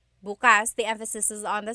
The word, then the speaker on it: bukas: If you say bukas buas the emphasis is on the second syllable that means open. If you say buas emphasis is on the first syllable that means tomorrow.